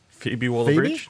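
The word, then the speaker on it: Phoebe Waller-Bridge: by how you pronouncing that fob phobe wallbridge just like Phoebe wall bridge Phoebe wall bridge but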